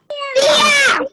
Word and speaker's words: día: ¡Día! ¡Día, día, día! Recuerden que día lleva tilde en la vocal.